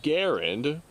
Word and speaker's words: Garand: of that particular individual the man's original name was pronounced Garand that is the Canadian way that they pronounce his name however with the American English depiction it would be pronounced Grand and that is the